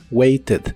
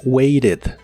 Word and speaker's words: waited: así que es waited waited Aunque en inglés americano casi siempre cambian la t de esta palabra por r Así que la escucharás como waited waited en el pasado la